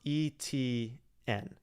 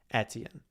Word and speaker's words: Etienne: don't think it is i have looked this up and i've seen it pronounced every single way but i've looked it up from like multiple sources and it's supposed to be pronounced etienne so i don't know i don't know who's right i need him to say it but i've seen from multiple sources that it's etienne we're just we're just